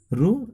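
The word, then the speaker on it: ρ: रो, इसको हम लोग बोलते हैं रो, प्रोनाउंसिएशन करते हैं, और इसको हम लोग क्या लिखते हैं?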